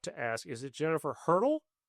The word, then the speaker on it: Hertel: I used to always tell people it's like the track instrument, just not spelled the same.